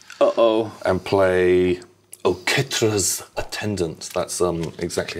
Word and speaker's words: Oketra's Attendant: And play Oketra's Attendant. That's exactly how you pronounce it as well. Oketra's Attendant.